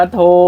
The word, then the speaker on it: โทร: อ่าน ว่า อะไร นะ มัน อ่าน ว่า โทร ลูก ตัว นี้ มี ร เรือ แต่ เขา ไม่ ออก เสียง แบบ เนี้ย เขา อ่าน